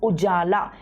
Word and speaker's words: UJALA: in your exams ujala please pronounce it see the spelling and pronounce ujjala in Hindi it is written like that ujala means light roshni